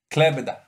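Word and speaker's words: Klaipėda: He doesn't pronounce them well, guys, but it's Kaunas and Klaipeda.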